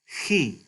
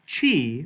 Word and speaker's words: chi: It's not chi, like you might think when you look at the letter name with English letters, but chi. This is like the German ch, if any of you have learned any German, like the ch in the name Bach, or like the German pronoun ich, or I.